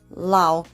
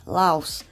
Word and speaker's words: Laos: is called Laos well in the country Lao they pronounce it Lao but in English we pronounce it with the S Laos um this is actually